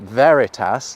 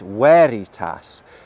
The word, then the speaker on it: veritas: have a v sound any classical Latin words that look like they have a actually have a sound so you know this word isn't Veritas like we might think it is it's wary Tas V got allocated the